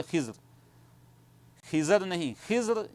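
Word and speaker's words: خضر: उस जगह पर आते हैं तो उनको हजरत खजिर अल सलाम मिलते हैं। देखिए जो हम खिजर बोलते हैं यह प्रोनाउंसिएशन जो है सही नहीं है बल्कि जो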